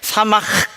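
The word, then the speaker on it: שָׂמַח: 여러분 히브리어는요 히읗 발음을 약간 숨을 이렇게 들이마셔야 되거든요. 그래서 사마흐 이렇게 하셔야 돼요. 그런데 사마흐 이게 어떤 기쁨이냐면은 이 세상의 기쁨과 비교할 수 없는 기쁨.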